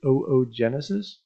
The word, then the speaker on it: oogenesis: this is known as oogenesis we pronounced both O's on there so Genesis the total